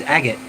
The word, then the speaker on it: agate: Well, when I think, like, I hate the word because the way it's spelled makes me go, it has to be agate or agate. And it's not, it's agate.